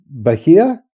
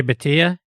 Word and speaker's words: Bhatia: The left-handed guy, Bahia? Oh, Akshay Bhatia? Yes, but sorry, I mispronounced his name.